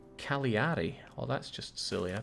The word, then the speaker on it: Cagliari: By the way, Jake, Calgary is pronounced Cagliari.